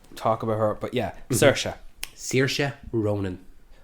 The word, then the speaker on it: Saoirse: But yeah, Saoirse Ronan. Oh, even I'm pronouncing it wrong. That's how I've always pronounced it. Saoirse. Yeah, either way is fine. That's the pronunciation of it.